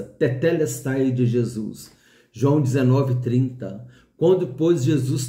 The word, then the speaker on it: tetelestai: Eu até brinquei com os irmãos, fala dedé, agora fala teté. Então a pronúncia é essa, tetelestai de Jesus.